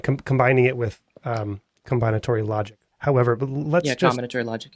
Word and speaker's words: combinatory: the the combinat combinatory combinatory yes yes that's right the emphasis is on the first syllable yeah alore yeah exactly